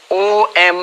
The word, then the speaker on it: Om: m but luckily fortunately when you write it as o m in english that's actually the correct pronunciation om is the correct